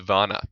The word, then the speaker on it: Werner: It's pronounced Bjorn Vanna because he's German.